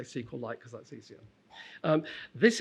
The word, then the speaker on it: SQLite: Um now, the author says he pronounces this SQLite, but he also says he doesn't care how anyone say it. So, I tend to say SQLite because that's easier.